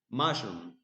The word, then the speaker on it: mushroom: Mushroom. The first syllable is stressed.